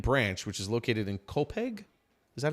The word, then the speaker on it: Copiague: from Root and Branch, which is located in COPEG. Is that how it's pronounced? Copag.